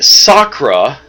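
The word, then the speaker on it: Sakkra: The Sakura, 2 syllables, have no need of cloning centers.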